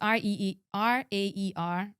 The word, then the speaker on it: RAER: Yeah, and so it's spelled rear backwards. So it's R-A-E-R, rear backwards.